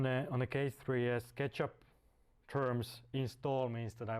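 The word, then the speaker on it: k3sup: that called k3s up pronounced like ketchup ketchup is actually initiated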